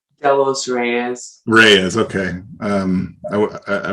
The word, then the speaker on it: Delos Reyes: tell me how to pronounce the last name delos reyes reyes okay um i i wasn't sure so blair delos reyes who is uh living currently in rexburg yep